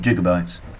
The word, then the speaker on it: gigabytes: a hundred gigabytes well i'd like to call them gigabytes um doc what's his name reference from back to the future there that was that's more fun to use a soft g as opposed to sound